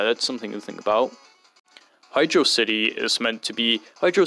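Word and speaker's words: Hydrocity: entire stupid pronunciation debate I used to just naturally say hydrosity from how it worked I can't blame other people for doing that but now I just say Hydro City uh knowing that this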